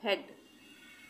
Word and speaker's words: head: यहाँ पे HEAD को हम पढ़ रहे हैं हेड। अब यहाँ पे हम ए का उच्चारण अलग से नहीं बोल रहे हैं, यहाँ पे हम